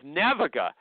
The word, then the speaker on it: Naviga: She's the CEO of Naviga, n a v i g a. Did I spell pronounce it right or wrong?